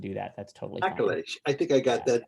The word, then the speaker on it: Akilesh: Oh, my family says I mispronounce my name. So, Akilesh. 3 syllables. Yeah, Akilesh.